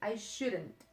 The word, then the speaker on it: shouldn't: In the negative form, you say, I shouldn't.